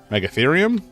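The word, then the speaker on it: Megatherium: And it's pronounced like how you think it would be pronounced. Meggathereum. I'm assuming that's how it's pronounced.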